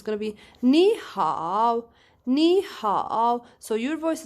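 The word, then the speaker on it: 你好: you change it guys because you have third tone and third tone immediately comes after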